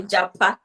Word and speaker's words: Japa: Yeah, Nigerians will Jabba, say Japa.